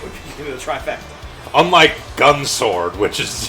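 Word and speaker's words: Gun X Sword: Unlike Gun Sword, which is the X is not pronounced.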